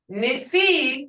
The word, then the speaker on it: Nithi: Nithi, nighttime, as in English, night. Before K, it is usually pronounced like English ing in sing.